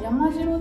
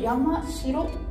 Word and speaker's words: 山城: ただこれを山城ではなく山城と読んだ場合、山